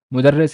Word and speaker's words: mudarris: this this part so just one vowel changes everything from mudarris is a teacher and mudarrass is something that is taught like a subject or or a topic the Arabic short vowel